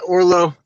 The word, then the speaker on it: Orlo: All right, before we start, am I saying your first name correctly, Orlo? Yeah, Orlo.